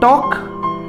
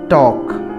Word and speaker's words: talk: Look at the word talk. Here L is silent. Talk.